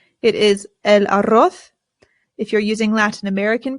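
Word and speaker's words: huevo: The H in Spanish remember is always silent. Always. Always. Always. I always hear Americans say and that is not correct. It is elo.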